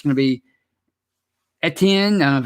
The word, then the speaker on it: Etienne: He's a regular, and he says, if the Steelers can pick up an Antonine in the draft that's the running back from Clemson. I always say his name wrong. Etienne in the draft with our receiving core, our offense will be unstoppable.